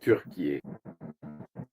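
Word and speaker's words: Türkiye: par la Turquie ou comme il le prononce Turquier. C'est ainsi que la Turquie appelle son propre pays, mais nous on dit Turquie, peu importe, n'est-ce pas ?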